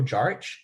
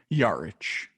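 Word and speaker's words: Jarić: mayo antoine walker marco jarich and greg buckner yarich yeah just wanted to help you out there it's marco yards i didn't bother looking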